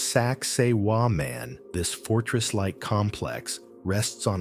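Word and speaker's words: Sacsayhuamán: The walls of Sakai Huaman. Pronounced Sak Seiwa man.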